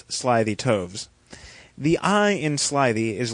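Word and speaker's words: slithy toves: How to pronounce slyytoes? The I in sly is long as in arrive and toes is pronounced as to rhyme with groves.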